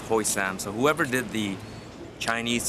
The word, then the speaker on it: Hoi Sham: Now it's spelled Hoi Sham, like S-H-A-M, but as per camera girl, she can read the Chinese characters, it's Hoi Sam.